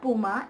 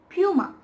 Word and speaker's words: Puma: oftenly mispronounced is this it is not puma it's puma puma puma so the next